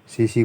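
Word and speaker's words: tsetse: इसको हम सीसी मक्खी कहते हैं क्योंकि इसमें टी साइलेंट होता है।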